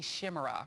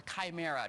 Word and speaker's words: chimera: idea of racial discrimination a Shima or Chimera depending on how you pronounce it I I don't think